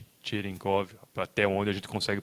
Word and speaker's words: Cherenkov: efeito, que é Pavel Cherenkov, em tcheco, que é a origem dele. O C tem um acento, né, que faz esse som em inglês como se fosse Cherenkov, até onde a gente consegue pronunciar os sons de tcheco, né.